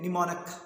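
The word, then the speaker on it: mnemonic: इसके बारे में बताना चाहूँगा कि निमोनिक बोलते हैं इसको, ओके, निमोनिक जो प्रोनाउंसिएशन है, निमोनिक, इसको क्यों कहा जाता है?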